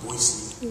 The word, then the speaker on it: Boise: if you guys know it's pronounced boisey yes correct yeah there's no z in it so I say just